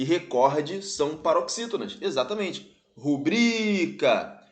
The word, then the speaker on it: rubrica: recorde são paroxítonas exatamente rubrica não é rúbrica recorde não é recorde são paroxítonos gabarito letra